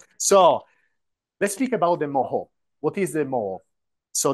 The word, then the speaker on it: Moho: is the mo so the mo comes from the name of these seismologist from Croatia Moor which is a bit difficult name also for me to pronounce that's why conventionally we use the short form they that can be easily pronounce worldwide which is moo and these are seismologist